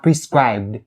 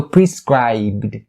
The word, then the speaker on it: prescribed: you have prescribed prescribed so just because the b sound is a voice consonant that's why it determines how you pronounce the 80 parts that's coming after so the eddy part in this situation is pronounced or supposed to be pronounced as a d sound so so prescribed prescribed